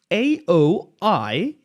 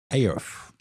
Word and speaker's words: Aoife: I, on the other hand, am AOIFE. Aof. No. I am Aoife.